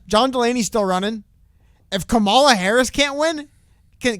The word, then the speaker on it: Kamala: past Kamala camel camel it's not camel it's Kamala Harris but everybody says Kamala and it's I doubt